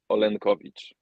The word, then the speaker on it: Olenkowicz: In Polish, it sounds Olenkowicz.